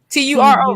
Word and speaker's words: Turo: Churro. Churro. Spell it for them, y'all. Turo, right?